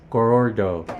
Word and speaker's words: Gorordo: this question how do you how do you pronounce the museum name Museum Kasa Goro gorordo yes sir can you say it three times